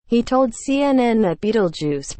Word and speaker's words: Betelgeuse: he told CNN that Beetlejuice pronounced Bay telephone juice been declining in brightness sharply since October and was now about 2.5 times fainter than usual once the ninth brightest star in the sky Betelgeuse has fallen now to about the 23rd brightest